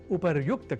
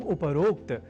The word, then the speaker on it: उपर्युक्त: अर्थात उपरोक्त के स्थान पर उपर्युक्त कहा और लिखा जाना शुद्ध है। यह हमें अवश्य स्मरण रखना चाहिए। तो उपर्युक्त इस शब्द से बने वाक्यों के अभ्यास से हम उपरोक्त इस अशुद्ध उच्चारण और